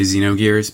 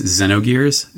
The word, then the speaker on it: Xenogears: talk about pronunciation first my base instinct is to say Xenogears because i said that for most of my life but the actual pronunciation is Xenogears so you'll probably hear